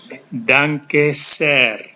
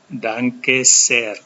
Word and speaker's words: Danke sehr: Kalau terima kasihnya mau ditambah lagi dengan terima kasih banyak, maka kalian bisa mengucapkan ini Danke sehr. Danke sehr. Ada H di sini dengan E, maka H-nya diucapkan panjang.